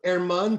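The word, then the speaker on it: Germán: in classic on paper his name says german but you say that g is silent so it's herman pastor he was fought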